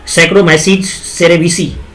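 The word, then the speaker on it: Saccharomyces cerevisiae: बनाने में जिसके लिए सैक्रोमाइसीज सेरेविसी नामक कबक का प्रयोग किया जाता है। सैक्रोमाइसी सेरेविसी देखो मेरे प्रोनाउंसिएशन पे ध्यान रखना है क्योंकि ये थोड़ा प्रॉब्लम दिया है पीडीएफ। सैक्रोमाइसीज सेरेविसी होता है, सेरेविसी।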